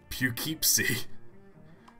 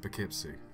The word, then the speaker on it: Poughkeepsie: around that hey Mac what town is this keepsake is that how you pronounce that yep be kepsi keep see it's